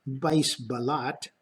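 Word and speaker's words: Buys Ballot: there's a Dutch meteorologist by his ballot pronounced vise ballot in 1857 developed a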